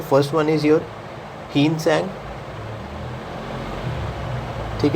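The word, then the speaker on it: Hiuen Tsang: तो अगर बात की जाए तो फर्स्ट वन इज़ योर हीनसंग। ठीक है? क्योंकि टी इसमें साइलेंट होता है।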